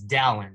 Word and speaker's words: Dallin: All right, Dallin Pepper is here, and we already figured out that's how you pronounce it. It's Dallin.